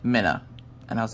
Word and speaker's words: Mina: her name is spelled m-i-n-a but you pronounce it mina uh kind of like the fish minnow but with an uh because i remember the